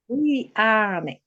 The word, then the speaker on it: Tuleane: Tuleane. You pronounce it as written. Yes. Tuleane. as it is written. Tuleane, Kiswahili, the yeah.